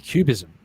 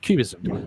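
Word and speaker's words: QBism: interpretation of quantum mechanics called the cubism pronounced cubism like the art movement very very very well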